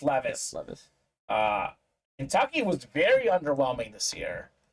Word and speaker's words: Levis: probably better than than is it Levis or Levis I think it's Levis I think it's pronounced Levis uh Kentucky was very